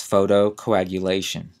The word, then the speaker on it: photocoagulation: uses light to treat wet macular degeneration that's photocoagulation p h o t o c o a